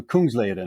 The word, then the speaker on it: Kungsleden: mistake but be Kung rather than kung so Kung leaden okay k k Kung is King lead is